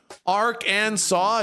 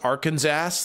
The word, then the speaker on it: Arkansas: wow Arkansas rice Arkansas West Virginia Ark and saw now you guys would spell it differently I'm sure it's actually pronounced Arkansas the ancient ones of fabled Legends pronounced at